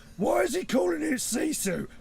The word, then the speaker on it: GiFu: name capital g i capital f u right sisu is how you pronounce it see you soon okay it's a